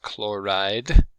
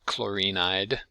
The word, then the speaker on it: chloride: Symbol is Cl-, and this is chloride, not chlorinide. Again, 2 syllables.